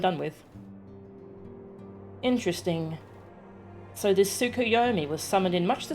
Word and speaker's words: Tsukuyomi: claim us a table it is pronounced tsukuyomi correct a figure from far eastern